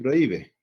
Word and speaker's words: prohíbe: Muy diferente a decir prohíbe. En prohíbe pasa esto, prohíbe. Entonces acá prohíbe tiene tres sílabas.